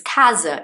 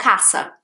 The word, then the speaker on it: casa: same in portuguese like the correct pronunciation is casa for home isn't it for house it's kaza it's not casa casa is wrong do you see what